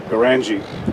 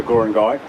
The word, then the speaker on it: Goorangai: crowd that really knows the story of the Gurangai, and as I was corrected this morning, I was not to call it the Goorangai. It's spelt like Gundagai, but anyway.